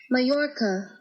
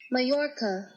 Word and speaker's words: Mallorca: it where's the microphone how to pronounce Matt Lorca Mallorca come on say it say it say it Majorca that's it Majorca oh my you're my